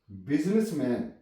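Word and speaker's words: business: बिजनेसमैन, बिजनेस, BUS, बिजनेस, यहां पे आई silent है। बिजनेस, बिजनेस, यहां पे यू ने आई की आवाज दी है।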